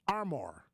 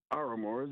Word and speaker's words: Aramore: you pretty good and I said your name wrong it's armor it's yeah no it's aramore my name backwards so